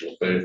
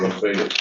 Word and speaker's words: Lafayette: County, of course, is Lafayette and Columbia, the Evergreen Brine Unit. How did I pronounce that, Lafayette, Mr.